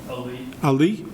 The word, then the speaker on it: Ali: Did I pronounce that correctly? Ali? Ali.